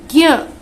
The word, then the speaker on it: ज्ञ: ये ज्ञ में हमें य भी नहीं दिख रहा है, ज भी नहीं दिख रहा है, लेकिन सिर्फ इनका उच्चारण हो रहा है, इनकी ध्वनि सुनाई दे रही है।